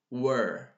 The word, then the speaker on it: were: like American British like where or where okay and the second one this one is were were where were now how can I understand and comprehend the pronunciation of this particular two words by repeating so repeat after me repeat where where where were like look at my mouth like where where where were were I'm making my mouth